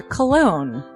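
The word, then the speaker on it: Colon: It is a self-published book by Christopher Cologne. Chris Cologne smells good to me.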